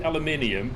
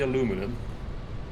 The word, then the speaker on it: aluminium: then I know but I do say aluminium I don't say aluminum and you say mathematics I